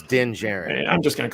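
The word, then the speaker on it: Din Djarin: were also seeing uh dendarjen going off and doing is is that how you pronounce i don't know no no the last name is pronounced with a j so it's din jaren i'm just going to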